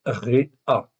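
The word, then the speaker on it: רֵעַ: Donc là, vous voyez, c'est toujours resh aïn, mais la vocalisation est différente. C'est un serré et un patar. Donc, ça se prononce réa.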